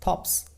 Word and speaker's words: thorpes: Next word है हमारा थॉप्स। Next word क्या है? थॉप्स। देखिए यहाँ पर हम लोग आर को साइलेंट पढ़ेंगे, उसको हम लोग बोलते हैं विलेज यानी गांव, THORPES, थॉप्स।